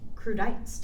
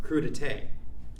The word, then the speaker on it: crudité: Yeah, I guess I'm eating crudites tonight. You mean crudité? Oh, is that how it's pronounced? I've seen the word spelled out all my life, and I've never heard it out loud.